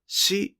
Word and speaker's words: 四: 数字の 4 が 4 と発音されるのは 4 月だけです。